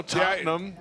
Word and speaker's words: Tottenham: win yesterday getting ready for week five at Tottenham hot spur Tottenham hot spur oh you said it wrong no no no Tottenham I was just making sure you knew no